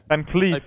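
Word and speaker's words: VanCleef: Van Cleef. Yeah, it's double E. That's true. Edwin Van Cleef. That is the right pronunciation.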